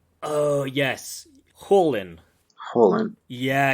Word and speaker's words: Kholin: It was Kholin. Oh, yes. Holin. Yeah. Anytime you see like KH, it's actually like this h sound that we don't really have in English.